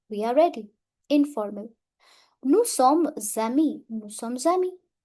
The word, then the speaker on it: sommes amis: Nous sommes amis. Nous sommes amis. S will overlap the sound of A. Nous sommes amis.